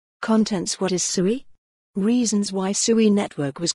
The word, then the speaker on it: Sui: of sui coin conclusion what is sui sui pronounced sui is a decentralized layer one proof of State